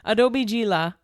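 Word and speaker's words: Adobe Gila's: G laughs which is what the website says phonetically geela Adobe geela and it's like a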